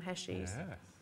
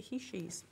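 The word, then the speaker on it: heishi: they were like um you don't pronounce them hessies so okay okay apparently you pronounce it he she's only on them i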